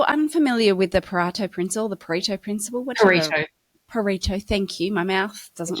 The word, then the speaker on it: Pareto: It's been a while, actually, because I've noticed that if you're unfamiliar with the Pareto principle, Pareto, thank you.